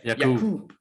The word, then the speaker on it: Yaqub: We call him Jakob, but in the book he pronounces it as Yaqub. Yeah. Yaqub. He says it very, all the words and all the letters.